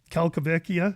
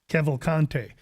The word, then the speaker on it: Cavalcante: the next fight, although Kalkavekia, is that her Yes, name? yep. No, that isn't her name. Her name is Cavalcante, and she fights. She fights. Now that you say it properly, Lou, that's how you say it.